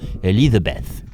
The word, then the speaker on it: Elisabeth: pas y croire, Elisabeth, à prononcer à l'anglaise bien sûr, Elizabeth.